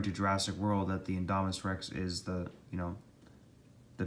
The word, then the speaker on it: Indominus rex: in history indominus rex say it like this indominus rex lives now in jurassic world length 50 feet